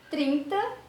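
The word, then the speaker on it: thirty: 30, eu já não coloco força no final, eu coloco força no começo.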